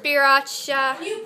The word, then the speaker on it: Sriracha: don't know what that is, how do you pronounce it? Sriracha.